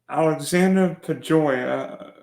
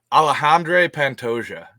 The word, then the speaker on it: Alexandre Pantoja: event we've got an interesting flyweight battle between Alexander pya and Steve vering did I say did I properly pronounced them alejandre Pantoja you got you got to brush up on